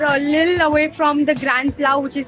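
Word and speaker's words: Grand-Place: Okay, so we are a little away from the Grand Pla, which is spelled Grand, and PLAS, which is pronounced Grand Pla over here, which is Grand Place.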